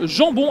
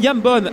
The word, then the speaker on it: Jambon: J'ai prononcé Jambon à la Belge pendant deux manches. Je m'excuse auprès de Max, qui est d'ailleurs un excellent prénom, puisque c'est Max Jambon et pas Jambon.